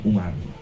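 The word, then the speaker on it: عمر: Kalau ada wawunya di belakang ro, bacanya Amr. Kalau nggak ada wawu, bacanya Umar.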